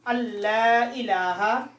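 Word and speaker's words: أن لا إله: And very important thing, noon is silent. Here is noon only written here. We will not read noon, okay? We will read lam. Allah ilaha is a idgham without gunna.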